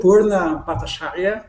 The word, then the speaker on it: Purna Bhattacharya: Well, I see that you are a very creative woman, and I was researching about you, Purna Bhattacharya, and I'm not sure if I'm with the exact You're pronouncing it pronunciation.